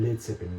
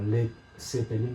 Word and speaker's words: Led Zeppelin: Por tanto, a la banda le ponen Led Zeppelin, le quitan la A a la palabra lead y queda como Led Zeppelin para que se pueda pronunciar igual en todos los países.